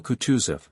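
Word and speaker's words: Kutuzov: General Coutusf said Bulkanssky speaking French and stressing the last syllable of the general's name like a Frenchman has been pleased to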